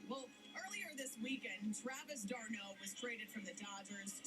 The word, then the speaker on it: d'Arnaud: Well, earlier this weekend, Travis d'Arnaud was traded from the Dodgers to the Rays, and he had a bit of a crash. D'Arnaud. That's how you pronounce it.